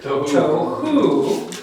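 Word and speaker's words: תֹהוּ: There's T-O, toe, hu, together. Tohu, tohu, okay.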